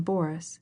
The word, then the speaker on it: Boris: She pronounced the name Boris with the accent on the first syllable.